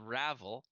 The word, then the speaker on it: Ravel: the kind of uh almost as if we're saying unravel and and actually interestingly